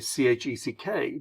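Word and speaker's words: cheque: here it'll be a C-H-E-C-K. But in England, it will be a C-H-E-Q-U-E. Same pronunciation, check, but spelled differently.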